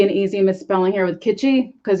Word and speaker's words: Kitschy: There can be an easy misspelling here with Kitschy because you don't really pronounce the S in Kit.